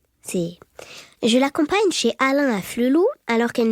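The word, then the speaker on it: Afflelou: C'est je l'accompagne chez Alain à Flelou alors qu'elle n'est toujours pas capable de prononcer le nom de ce célèbre opticien. Elle dit afflou et pour une enseigne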